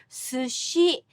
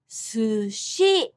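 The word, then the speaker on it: 寿司: Listen how I say sushi in Japanese. Sushi. Both syllables have the same length and strength. The only difference is su is pronounced with low accent and shi with high pitch. Sushi.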